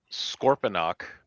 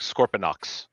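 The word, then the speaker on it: Scorponok: Sometimes it sounds like Scorpionox with an X at the end.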